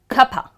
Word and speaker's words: cuppa: I need lotsa money, lotsa okay, you would hear the word cuppa, what do they mean? They actually mean cup of they don't want to say give me a cup of tea No they'll try to be very lazy because they know it all the other person knows it all so they're going to say cuppa tea yeah, cup of tea becomes cuppa tea okay, moving on to